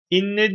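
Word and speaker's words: إنّ: diye tartışmalar yaygındır şimdi buradaki inne de Enne diye değil konumuz bu niye değil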